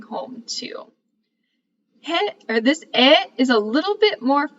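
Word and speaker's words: へ: the KN and then the verb at the end we also have another similar particle this is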